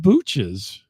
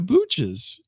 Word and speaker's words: Booch's: Columbia is at a place called Booch's, which kind of rhymes with cooches.